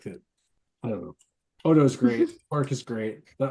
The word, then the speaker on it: Odo: Otto is gonna lose his substance. Can we at least pronounce it right though? I don't know. What is his name? Odo. Odo.